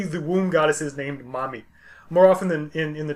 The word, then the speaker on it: Mami: She's referred to also as Belet Ili or Mami, and literally that's how it will be pronounced, Mami.